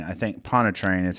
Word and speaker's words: Pontchartrain: Pontchartrain. I think Pontchartrain is how you say that, but it's a famous lake.